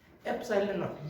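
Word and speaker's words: epsilon naught: ये भी एक सिंबल है, जैसे पाई, इसका नाम क्या है पाई, वैसे इसका क्या नाम है एप्सिलॉन, ऐसे प्रोनाउंस करते हैं इसको, एप्सिलॉन नॉट।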